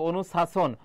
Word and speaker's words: অনুশাসন: তারপর হবেশা এবার এখানে তো আমরা ছ এর মতো উচ্চারিত হচ্ছে না যে অনুশাসন অনুশাসন এজ ইউজুয়াল যে